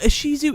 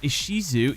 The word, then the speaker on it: Ishizu: as Isis ishar as isisu is the pronunciation of the name Isis in Japanese her name supposedly derives